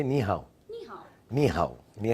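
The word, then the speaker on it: 你好: How do you say ni hao?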